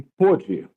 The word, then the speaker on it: pôde: Indica que além da pronúncia da vogal fechada, como em ovo, por exemplo, o verbo está no pretérito passado.